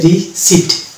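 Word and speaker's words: receipt: অন্যভাবে এটা হচ্ছে রিসিপ্ট, এখানে পরের উচ্চারণ আসবে না, রিসিপ্ট না, এটা হবে রিসিপ্ট।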